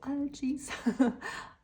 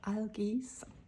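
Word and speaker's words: Algiz: So, algae or rather alge pronunciation this just means you are so protected like totally protected.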